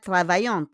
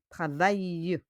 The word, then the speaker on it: travaillent: It's not travaillante, hein? It's the pronunciation po. Be careful with your pronunciation. It's not travaillante, mais travaille. Okay? Les boulangers travaillent. Travaillent.